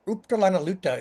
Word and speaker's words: Uptalanaluta: And in the Yupik language, they have a word, Uptalanaluta is roughly how it's pronounced.